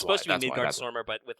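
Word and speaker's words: Midgardsormr: because they showed a Midgar Salam. Or is that how it's pronounced? Or it's yeah, I mean it's supposed to be Midgar Zormer. Midgar Zormer. I've always said like Midgar Salam.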